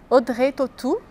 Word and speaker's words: Audrey Tautou: E algumas atrizes famosas, como Catherine Deneuve, Brigitte Bardot, Audrey Tautou, Juliette Binoche, Emmanuel Béart, Gérard Depardieu.